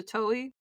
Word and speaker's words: Toei: She moved to Toei. Is that how you pronounce it? I really hope I'm... Toei, yeah.